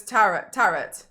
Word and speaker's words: tarot: And there is a plant called taro that's pronounced the same as tarot.